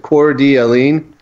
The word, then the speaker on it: Coeur d'Alene: This one is in, I always mess up on the pronunciation of this town. Is it Coeur d'Alene or Allen?